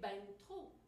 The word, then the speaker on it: ben trop: Mais quand on combine ben et trop, là, on prononce un ne entre les deux. On dit, j'ai mangé ben trop.